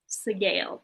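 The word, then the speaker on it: Sgaeyl: Segale is how that's pronounced in the books, which is one of the largest blue dragons.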